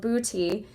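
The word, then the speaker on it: Buti: Booty yoga, ironically, it's called booty.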